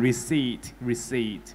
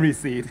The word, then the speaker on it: receipt: p อยู่ตรงท้ายๆนี่แหละคนก็คิดว่าเฮ้ยตัว P ต้องออกเสียงเป็นพอพานหรือเปล่าอ่านเป็น received หรือเปล่าแล้วเราก็สอนว่าจริงๆแล้วเราตัดตัว P ทิ้งไปเลยอ่าน receipt หลังจากนั้นก็คือขึ้นมา 200,000 กว่าวิว ในคลิปนั้น จริงๆแค่บอกว่ามันอ่านว่า receipt แค่ receipt แค่ receipt เท่านั้นแหละครับขึ้นมา 200,000 กว่าวิวคือตกใจมากเฮ้ย เป็นไปได้ไง